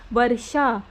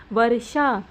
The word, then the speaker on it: वर्षा: जैसे वर्षा तो ये र की जो साउंड है वो यहां आएगी। श से पहले उसका उच्चारण होगा। जैसे वर्षा आशिरवाद तो ये र जो ऊपर र लगा है वो पहले आएगा इस चीज का ध्यान रखना उच्चारण में पहले आएगा सूर्य फुर्ती आप ध्यान